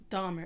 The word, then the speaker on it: Dahmer: Is it Donner or Dahmer? Because you know I always say it wrong. Dahmer.